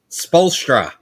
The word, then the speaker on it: Spoelstra: Spolstra.